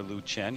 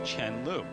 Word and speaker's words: Chen Lu: And while it is acceptable to call her Liu Chen here in the West, actually in China, the correct way to say it is Chen Liu.